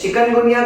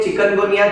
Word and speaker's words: Chikungunya: कीमा-कोंडे language के हिसाब से चिकनगुनिया का जो वर्ड है, अब यूजुअली हम इसे बोल बोल के चिकनगुनिया चिकनगुनिया यानी चिकन बोलते हैं, बट आइडियली इसे आप प्रोनाउंस करिए एज चिकुनगुनिया।